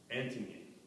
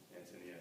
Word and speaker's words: Ántonia: It's actually pronounced Ántonia, as she makes a big point of, but it's just so in our culture as Ántonia, I can't bring myself to pronounce it properly.